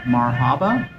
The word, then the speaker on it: Marhaba: So we've instead stopped here at a restaurant called Marhaba Restaurant, Penang. I believe that's how it's pronounced, M-A-R-H-A-B-A.